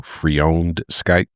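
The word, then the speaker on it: freondscipe: So Freowned Skype, something like that.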